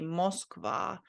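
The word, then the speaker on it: Москва: I think this O letter here is pronounced more like ah, because it doesn't have an emphasis on it here. So I think you're not supposed to say Moskva, but Moskva. So this is said like ah. Yeah, I think so, Moskva. But yeah, the emphasis is here on the last vowel.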